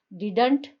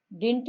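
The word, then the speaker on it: didn't: Once again, डिडंट, DIDN''T, डिंट या डिडंट आप दोनों ही इसका प्रोनाउंसिएशन कह सकते हैं।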